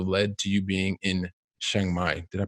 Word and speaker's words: Chiang Mai: made, which also led to you being in Chiang Mai. Did I pronounce that correctly? Yeah. Chiang Mai.